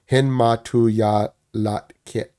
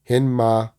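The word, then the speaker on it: Hinmatóowyalahtq̓it: It's actually pronounced. I'm sorry, Hinmatuyalatkit, Hinmatuyalatkit, which means thunder rolling down the mountain.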